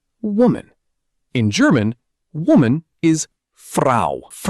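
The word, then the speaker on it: Frau: woman is fra rhymes with now.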